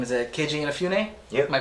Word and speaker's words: Inafune: His name is Keiji Inafune. Yep. Am I pronouncing that correctly?